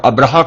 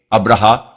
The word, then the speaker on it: ابرہہ: مورخین ابراہام لکھتے ہیں۔ ابرہا غالباً اسی کا حبشی تلفظ ہے کیونکہ عربی میں تو اس کا تلفظ ابراہیم ہے۔ یہ شخص رفتہ رفتہ